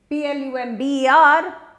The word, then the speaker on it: plumber: is not lumbar again the B is silent like the tomb and the word is